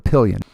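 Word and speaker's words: Papillion: Papion, which would be the proper French uh pronunciation for the word means butterfly in French.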